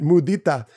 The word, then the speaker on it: mudita: I know this is not a Spanish word, but because I speak Spanish, I've been pronouncing it mudita.